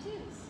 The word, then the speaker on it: Tews: Trulson and Tews. I'm learning. You'll have to give me some grace. Trulson and Tews.